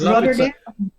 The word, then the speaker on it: Rotterdam: Pa-pronounce? Yes, it's Rotterdam.